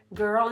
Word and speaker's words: girl: Girl is a hard word. It's just like her with a G.